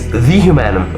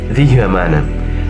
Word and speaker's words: Humanum: Uh well, it's the human. Okay, the human pronounced this way.